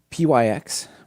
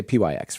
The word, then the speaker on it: pyx: I'm going to say pyx for now like ty and uv and so on.